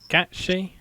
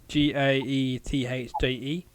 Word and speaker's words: Gaethje: But do you think Tony Ferguson's got a chance when he goes against the top contender, Justin Gaethje? Is that how you pronounce it? Gaethje.